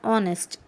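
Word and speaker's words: honest: वैसे ही एन ऑनेस्ट, एन ऑनेस्ट, यहाँ पर एच को साइलेंट करते हैं और ओ की आवाज़ करते हैं हम लोग, और ओ वाउल में से है, इसीलिए यहाँ पर भी एन आ रहा है।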